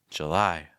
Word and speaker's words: July: own June July July make sure that when you're saying that lie sound keep the tip of your tongue down and hold that eye sound with lots of breath I lie July see how weak the first syllable is there it's not July it's July August August the second